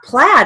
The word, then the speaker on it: plaid: Now, plaid is spelled PLAID in English, but it has a short A sound, so we're going to write it as PL short AD, plaid.